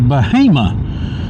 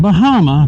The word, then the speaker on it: Bahama: Stagville Road takes you to Bahama, not Bahama, Bahama.